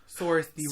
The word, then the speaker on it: Saoirse: Saoirse Ronan.